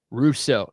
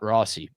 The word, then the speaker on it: Russo: Good job there, Ralph Russo. Not Rossy, but I I He deserves to have his name wrong with uh with something like that.